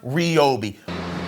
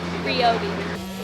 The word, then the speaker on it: Ryobi: listen here's the deal it's been confirmed over and over again from ryobi that it's pronounced ryobi ryobi it's ryobi i like this i'm going